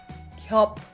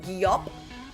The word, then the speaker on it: 겹: 겹. 겹. So we're not going gyop. Gyop. We're not extending the sound into two syllables. It needs to happen in one go.